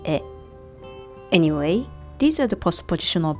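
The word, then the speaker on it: へ: By the way, these two characters originally pronounced ha and he, but when they used as particles, pronounced wa and e.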